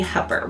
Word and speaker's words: Hooper: So if you're not from here, you'll think it's Hooper, but it's actually Hooper.